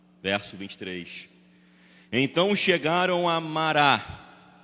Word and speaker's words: Mará: Então chegaram a mará. Essa é a pronúncia correta, né? que tem mania de falar mara, mas é mará.